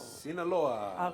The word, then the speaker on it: Sinaloa: Sinaloa.